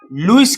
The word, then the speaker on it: Lewis: तो तीसरा कंसेप्ट आपको पढ़ना है लुईस कंसेप्ट। लिखते हैं लेविस कंसेप्ट, है ना? इसको उच्चारण करते हैं हिंदी में लुईस concept of acid and base.